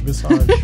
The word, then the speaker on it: Visage: Visage. Visage. Or if you're French, visage.